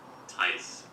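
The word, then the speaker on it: Thijs: It's not going to be a J sound. Be a Y.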